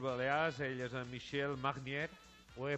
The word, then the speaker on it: Magnier: Ell és en Michel Magnier. Ho he pronunciat bé? Buenos días. Magnier o Magnier. Bueno, Magnier. Michel. Fonéticamente la GN es la ñ española. Magnier. Magnier. La R no se pronuncia.